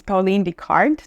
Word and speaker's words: Pauline Vicard: Today my guest is Pauline Deard. Did I pronounce it? Yeah, perfect. Yeah. Pauline Mikard, executive director and co-founder of Areni Global.